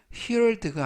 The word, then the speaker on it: heard: 발음은 heard가 아니라 heard, heard, I heard, 나는 들었다.